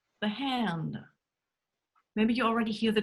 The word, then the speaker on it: Hand: sounds R, the sound Ö, and the sound H. And that's something you just have to practice.